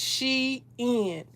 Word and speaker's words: Shein: It's spelled just like I'm saying. It's Shein.